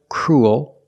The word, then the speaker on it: cruel: They all have the oo sound plus a dark L, ool, like pool and cool. But remember, with fuel, we